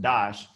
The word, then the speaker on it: Das: one of those families their last name is dash d-a-s pronounced dash so even though it's illegal people know from